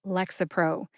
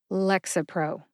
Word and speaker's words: Lexapro: syllable to emphasize but I tend to emphasize Lex see if you can hear that emphasis when I say it slowly Lexapro how did I find the pronunciation for Lexapro I found the written